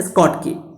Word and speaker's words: Schottky: सही इसका प्रोनाउंसिएशन है स्कॉट की, लेकिन शॉर्ट की याद रखने के लिए तुमको आसान रहेगा।